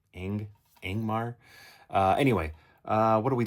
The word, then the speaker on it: Ingmar: And because I feel like I always grew up saying it Igmar, but that N is there. So Ingmar.